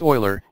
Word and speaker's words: Euler: 1748 the swiss mathematician leonard euler pronounced euler used the letter i